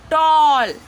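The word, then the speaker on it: tall: Next हमारा चौथा rule है, यदि किसी वर्ड में ए के जस्ट बाद डबल एल हो या फिर ए डब्ल्यू हो या ए यू हो तो साउंड ऑ हो जाता है। ठीक है, क्या होता है, आ इसको नहीं पढ़ते, ऑ। मुंह को, फेस को जो है थोड़ा सा आप राउंड करेंगे गोल में, ऑ थोड़ा सा क्लोज में लेंगे। ठीक है, जैसे यहाँ पे टॉल। ठीक है, टॉल, इस तरह से वर्ड लिखेंगे।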